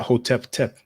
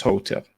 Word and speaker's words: Hotep: So you don't pronounce that Hotep-tep, just Hotep.